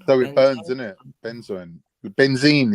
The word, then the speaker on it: benzoin: You know, it sounds. It sounds like you spell it, but I thought there's no way this is how they're spelling it.